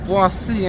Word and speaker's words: Boise: Americans pronounce it Boise, but in French, it's actually pronounced Boisé.